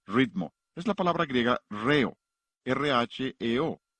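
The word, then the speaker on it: ῥέω: Es la palabra griega reo, R-H-E-O. La H es el acento en griego, por eso acentuamos la primera sílaba de la palabra ritmo.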